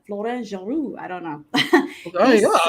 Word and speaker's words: Florent Geroux: Florent Geroux, did I say it right? Yep. I feel like I should say it with a French accent. Florent Geroux.